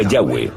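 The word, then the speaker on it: Yahweh: son y hw h y pensamos que probablemente se pronunciaba yagüe o algo así pero yagüe solo aparece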